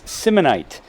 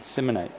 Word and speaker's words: Simonite: It's Simonite. Lance, the coach of the Stanton Braves, chimes in. We've been saying it wrong. It's last name's pronounced like dynamite, Simonite.